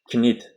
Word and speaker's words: knit: Demak, K is K is not pronouncied before N.